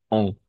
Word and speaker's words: en: No va a ser en, sino vamos a pronunciar on, como una O y N.